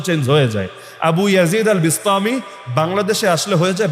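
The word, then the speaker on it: أبو يزيد البسطامي: Abu Yazid আল বিস্তামি বাংলাদেশে আসলে হয়ে যায় বাইজিদ বোস্তামি।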